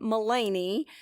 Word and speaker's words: Melanie: Andy's business partner, Melanie, who spells her name the same as I do, though I do pronounce my name Mulaney, but she was an absolute hoot.